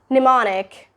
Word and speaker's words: mnemonic: Mnemonic. The spelling is M-N-E-M-O-N-I-C, but it's mnemonic.